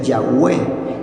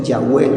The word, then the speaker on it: Yahweh: con las cuatro consonantes que se pronuncia yahwe y los rabinos o Israel por respeto dejaron de pronunciarlo como yahwe así se pronuncia yahwe las cuatro consonantes no